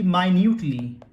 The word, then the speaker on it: minute: माइन्यूट से बनता है, और मिनट और माइन्यूट स्पेलिंग सेम होती है, प्रोनाउंसिएशन अलग अलग होता है। जैसे 5 मिनट्स 10 मिनट्स बोलते हैं, और यहाँ पर माइन्यूट बोलेंगे यानी सूक्ष्म।